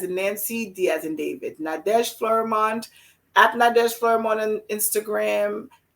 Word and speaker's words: Nadege: nadeshlerman i'm very boring i call it spell it for us so everybody knows sure it's nadesh and as in nancy as in apple d